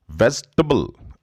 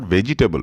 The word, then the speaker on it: vegetable: Vegetable. This is not vegetable, which many people tend to speak. Vegetable not. It's vegetable.